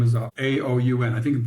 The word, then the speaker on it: Aoun: The president of Lebanon, his name is Aoun, I think I'm pronouncing it right, Aoun, I think is the right pronunciation, announced that